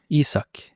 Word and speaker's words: Isak: How, by the way, how do you pronounce that? Isaac or Isak? Isak.